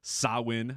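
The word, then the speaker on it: Samhain: you know do the sawin even though it's spelled s m h an it's sawin I I made sure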